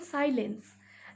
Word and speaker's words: silence: The man is silent. That means the man is not talking. That is called silent. Then silence.